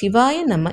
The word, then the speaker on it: சிவாய நம: அந்த குழந்தை மேலும் கூறியது சிவாய நம என்பதை சிவாய நம என்றே உச்சரிக்க வேண்டும்.